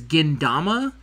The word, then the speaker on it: Gintama: little lines, and it changes it to the D sound. So ta becomes duh. That's why he says Gindama, because when he looked at it, he's like, what do you think it would be pronounced as? He says, oh, Gindama.